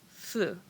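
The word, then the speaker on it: ふ: here and they are going then we have fu so this is still considered who but more often than not we pronounce it as fu so you could think of it as who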